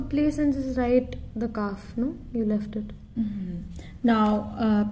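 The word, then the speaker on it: ك: I have left out Kaf out. It's pronounced as Kaf.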